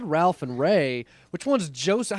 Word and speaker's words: Ralph: Actually, Ralph is pronounced Ray because of some fucked up thing.